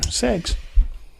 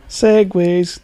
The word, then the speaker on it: segue: Ooh, segs. Say it properly. Segways.